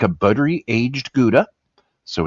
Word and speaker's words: Gouda: And I kind of assumed that it was going to be a gouda, um, which is actually pronounced how uh, in the Netherlands or Holland.